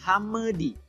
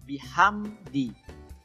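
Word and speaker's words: بحمد: Qalqalah jadi jangan be Hame di tidak boleh harus bihamdi minimnya dihabiskan dulu kemudian robbika disitu banyak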